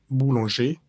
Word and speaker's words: boulanger: Boulonger, la palabra boulongé, que es panaderos, tiene una vocal nasal y es la an. Vamos a decir bou boulanger traur dans la production.